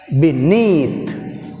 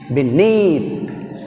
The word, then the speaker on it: beneath: beneath, beneath, beneath. Neath is second syllable. That's why we have stress on second syllable neath.